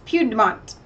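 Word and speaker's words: Puigdemont: news wire reports with the Catalonian president Charles Pugh de menthe that's how you say it has drafted a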